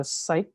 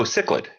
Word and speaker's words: cichlid: butcher the pronunciation but a cyclid oh cichlid cichlid yeah so um yeah so